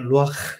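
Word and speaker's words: רוּחַ: 발음을 하면 루크라는 발음입니다 발음은 약간 약간 가래 끓는듯한 그 발음인데 루아흐 이렇게 발음을 합니다 루라고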